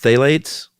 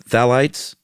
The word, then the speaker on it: phthalates: up a bottle that has uh how's it pronounced phthalates phthalates yeah phthalites phthalites phthalates the lattes p-h-d-h-a-l-a-t-e-s everyone knows what